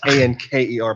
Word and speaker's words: Anker: with the K. Yes, Anker. Police.